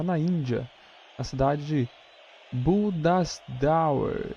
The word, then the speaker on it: Bhubaneswar: Todos os jogos acontecem lá na Índia, na cidade de Bhubaneswar. É claro que a pronúncia é outra, né? Bhubaneswar. Quase isso.